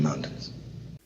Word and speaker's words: mountains: Some people say mountains, and some people say mountains. Both are correct. So you can pronounce the T and say mountains, mountains. Or you can use a stop T and say mountains. Use a stop T, mount, and then you fall to the N.